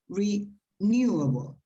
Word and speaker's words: renewable: it phonetically okay so the stress that is the apostrophe goes before the syllable that will be stressed in this case is the second one so it's renewable yes yes thank you